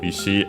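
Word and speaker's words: 石: Yeah, the accent is accented on the last syllable, so Ishi was correct.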